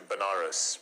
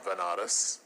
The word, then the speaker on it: Banaras: ended up going to banaras which is a place in in india sometimes pronounced as vanadas which is a place